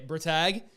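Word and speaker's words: Bretag: Bratag, we're getting that right, Bratag, with the German pronunciation.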